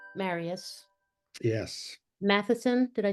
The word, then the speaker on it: Mathisen: Marius Yes, Mathisen. Did I say that right? that's close enough. No, I If usually you say it if you're going to do the real pronunciation correctly, it's Mathisen. Mathisen.